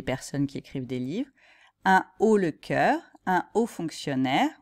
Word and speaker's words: un haut: a beaucoup plus donc on va dire un haut pas un o en hausse pas en